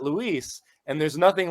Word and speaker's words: Luiz: It should be, not Luis.